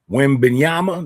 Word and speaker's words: Wembanyama: Is that how you pronounce that? Wembanyama, that's how you pronounce it.